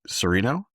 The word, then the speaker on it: Sorino: Sereno?